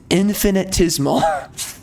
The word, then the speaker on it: infinitesimal: I'm probably mispronouncing it. Infinitesimal. Oh my God, that is such a weird word. Okay, it's infinitesimal. Okay, that's why it sounded wrong to me, because I was not giving it the proper pronunciation.